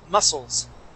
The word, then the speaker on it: muscles: Remember, that C is going to be silent. Muscles.